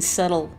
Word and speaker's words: subtle: when you were 11 you saw the bee in subtle was not silent I thought something similar